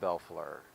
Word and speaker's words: Bellefleur: your name on the screen how do they pronounce that fly to me Bellefleur everybody I go by right and if